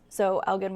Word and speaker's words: Elgin: Is that how they pronounce it? Elgin? Okay. No, you're good. So Elgin, we did see some, what the National Weather Service has already confirmed as tornadoes.